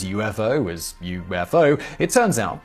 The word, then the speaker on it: UFO: While today pretty much everyone pronounces UFO as UFO, it turns out that's not the way the person who suggested the phrase unidentified flying object, one Edward J.